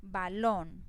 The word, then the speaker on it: balón: Balón, entonces esta es la sílaba donde lleva el acento, lon, y mire que tiene tilde.